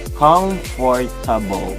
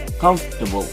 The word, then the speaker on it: comfortable: Not comfortable, it's comfortable.